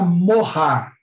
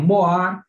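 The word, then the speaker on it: מוהר: Então, primeira palavra, a palavra morrar. Então, aí, essas cobrinhas que vocês veem escrito aí, é a palavra morrar, escrita em hebraico. Alguns pronunciam moar, bom, morrar ou moar, literalmente, essa palavra quer dizer dote, quer dizer preço.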